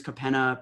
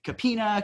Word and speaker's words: Kapena: interesting names I mean my name is capena people see my name and I get all kinds of different things I get capina capena some really interesting ones right so when when